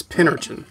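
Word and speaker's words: Pincurchin: how to pronounce it but yeah it's pin urchin straight up the nose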